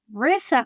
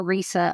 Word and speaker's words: Risa: uh my name is raissa but it's spelled with One S so it throws everyone off and so I hear Risa a lot and I'm based in